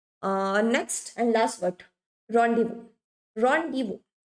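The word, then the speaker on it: rendezvous: रॉन्डिवू pronunciation थोड़ा सा अजीब है लेकिन यही है, ठीक है।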